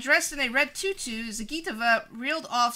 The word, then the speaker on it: Zagitova: Zagatova. Edges. Zagitova. Zagitova. That's it. Alina Zagitova edged out Venya Mendeva. It's not pronounced that way.